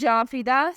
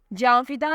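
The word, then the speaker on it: Jafida: बड़ी कदो कामत वाली the next name इ जा फिदा स्पेलिंग है जे ए एन एफ आई डी ए जा फिदा नाम की मानी है जान कुर्बान करने वाली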